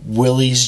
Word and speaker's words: Willys: And then we did discover that it has two different pronunciations. Yes, there are two different pronunciations. So Willys, this is the old Willys Jeeps.